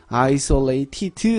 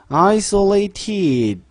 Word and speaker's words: isolated: isolated 발음은요 isolated 하지 않고 isolated 으 사운드를 죽이면 티귿이 받침으로 들어가게 되죠.